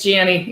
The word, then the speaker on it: Gianni: Nope, it's not Yanni, it's Gianni, even though I think Siri pronounces me Yanni.